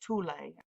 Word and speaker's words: Thule: theosophical societies and the thule society or some pronounce it tulay i think that's the correct pronunciation but i usually just say thule because a lot of people that's what they know it as but anyway they talked